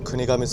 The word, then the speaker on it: 国頭: 国に頭に村って書いて国神と読むそうです。